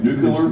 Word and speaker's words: nuclear: I always want to pronounce that very carefully. Nuclear? It feels real stupid when you say it wrong. And half the time, that's how I say it. Say nuclear. Nuclear. Like N-E-W, and then clear at the airport.